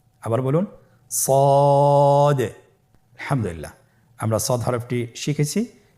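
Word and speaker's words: ص: তাহলে আপনারা জিহ্বার আগা, সামনের নিচের 2 দাঁতের পেট ও আগার সঙ্গে লাগিয়ে উচ্চারণ করুন সদে। আবার বলুন সদে।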